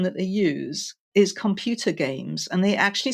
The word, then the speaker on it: Gamse: so my name is games and we say games we spell it g m right don't ask it's it's